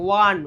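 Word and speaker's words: one: ঠিক আছে, তাহলে ও, ওটা তো ভাওয়েল, কিন্তু ও এর উচ্চারণটা এখানে ওয়া হয়ে যাচ্ছে, ওয়ান, ওয়া।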